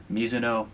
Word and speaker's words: Mizuno: Neo Vista, and yes, that is how you say Mizuno. It is a Japanese last name.